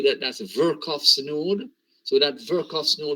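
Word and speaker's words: Virchow: the hospital you may say here some people mispronounce it and say virtual okay it's not virtual verkoff so it's work off the node so verkoff's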